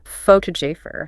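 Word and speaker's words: photographer: But what about the person who takes them? Photo and Jafer. Ah, shifts to the second. Photojafer.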